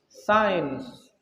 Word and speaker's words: science: Tapi sains itu, pelafalan sains itu yang tadi tulisannya science tadi itu sama dengan SIGN, sain, sama kan pelafalannya? Antara science dengan SIGN itu pelafalannya sama.